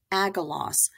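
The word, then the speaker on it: Agelaus: A-U-S as os, and we're going to do agalos, okay? So ordered his herdsman, agalos, to kill the newborn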